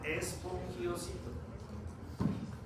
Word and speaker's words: espongiocito: Espongiocito. De las células de la zona glomerular son llamadas o son denominadas espongiocitos. ¿Listo? ¿Cómo se escribe? ¿Cómo se escucha? Espongiocito. ¿Listo? Con S, sin H, con G. Espongiocito.